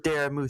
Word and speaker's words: Dara: All right, your pronunciation is off. I said Dara not Dara.